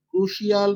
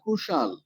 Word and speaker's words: crucial: পারবেন এটার উচ্চারণ কি, ক্রুশিয়াল না ক্রুশাল? অ্যাকচুয়াল উচ্চারণ ক্রুশাল, ক্রুশিয়াল রং, ক্রুশাল হচ্ছে কারেক্ট।